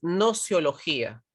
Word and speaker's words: gnoseología: la sociología si es gnoseología ok lage es como que se aspira y no se pronuncia si la gn cuando